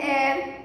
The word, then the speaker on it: heir: And see examples, an our, an honorable, an heir, an heiress, an honorary members, and honest girl. Means here in these words, H is silent, so we have to write N.